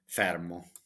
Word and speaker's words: Fermo: properties the cheapest property for sale in fmo fermo let me let me pronounce it in the Italian way so okay